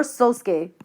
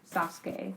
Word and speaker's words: Sasuke: Wait, is it Sasuke or Sosuke? Sasuke. Oh, so his name is spelled S-A- Sasuke.